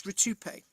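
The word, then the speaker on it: Rutupiae: It's spelled R-U-T-U-P-I-A-E. That's Rutupe.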